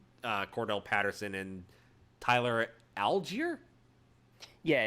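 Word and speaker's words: Allgeier: algier yeah it's algier I found out it's algier okay like I thought it was all gayer because but that's just because there's a NASCAR driver whose last name is all Guyer okay and it's spelled almost exactly the same but yeah I I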